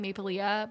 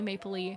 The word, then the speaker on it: Maplelea: I grew up saying Maplelea, but I think it's actually Maplelea.